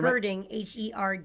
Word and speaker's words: herding: And if we throw a toy, they're Herding, Herding, herding. not hurting. Yeah, herding.